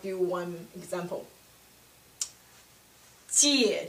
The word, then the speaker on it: 姐: Third tone has two parts. Down, up. Down, up. So it implies it comes with two parts of the pronunciation. Like do one example. 姐姐 older sister.